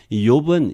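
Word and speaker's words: אִיּוֹב: 이 욥은 히브리어로 하면 이욥, 이씨가 되네요. 이렇게 발음해요. 두 음절이 나와요. 원래는 이욥.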